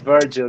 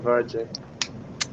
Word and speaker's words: Virgil: By the way, it's Virgil, guys, not Virgil. But you know the way sometimes it sounds, like when you pronounce. I know it's not exactly Virgin, it's Virgil.